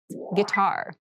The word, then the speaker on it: guitar: casual clothing casual clothing guitar this word has kind of an interesting spelling it starts with GUI but we pronounce this as git so a guitar is